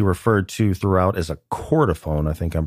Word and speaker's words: chordophone: sale, which he referred to throughout as a chordophone. I think I'm pronouncing that right.